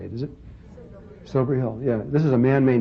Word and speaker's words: Silbury Hill: This is Silbury Hill? That's not how you say it, is it? Silbury Hill, yeah.